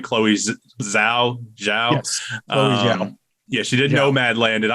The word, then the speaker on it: Chloe Zhao: and the directing pedigree of, how do you pronounce her name? Chloe Zhao? Yes, Chloe Zhao.